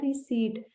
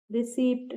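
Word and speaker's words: receipt: और इंग्लिश में इसे कहते हैं रिसीट। तो ध्यान रखिएगा यह बहुत कॉमन वर्ड है। कहीं भी आप जाएंगे या बिल पेमेंट करेंगे तो आप आर से रिसीप्ट बोलेंगे। रिसीप्ट नहीं पी इसमें साइलेंट है।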